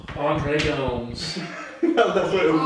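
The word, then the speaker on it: André Gomes: Pronounce it where he's from. He's Portuguese. No, don't. Andre Gomes.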